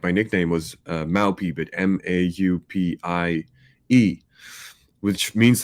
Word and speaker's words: Mau P: thing where it's like Mao P, like, and it's amazing because like people in the US, when they say my name now, sound like they are saying my actual Dutch nickname, and people in Holland,